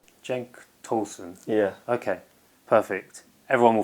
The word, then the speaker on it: Cenk Tosun: now I must have had about 50 different pronunciations of your name could you just say your name for us its Genk tausend Jake Tolson yeah okay perfect everyone will forget that and